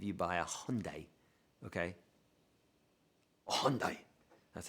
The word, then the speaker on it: Hyundai: things than if you buy a hyundai okay hyundai that's how you say it hyundai that's how